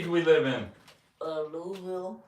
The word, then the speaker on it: Louisville: what what city do we live in uh louville say it say it project it how do you say it Louisville that's good Louis Louisville you've been here long